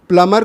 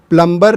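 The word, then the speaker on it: plumber: grammar के कारण हो फॉर एग्जांपल प्लमर को 95परसेंट लोग प्लंबर प्रोनाउंस करते हैं यदि हम दूसरों को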